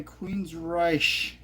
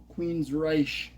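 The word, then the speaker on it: Queensrÿche: It's Silent Lucidity by Queensryche, I think is how it's pronounced, because it has dots a bunch above the R. Queensryche, or something like that.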